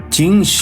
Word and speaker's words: Qin: aparición de gengis khan ching juande primer emperador de china y fundador de su dinastía si se pronuncia chin y se cree que